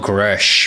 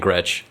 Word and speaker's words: Gretsch: What is the correct pronunciation? What is that? No, I think it's Gretsch. It's Gretsch. I think before I used to call it Gresh because I don't know.